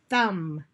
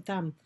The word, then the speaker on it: thumb: The B is silent.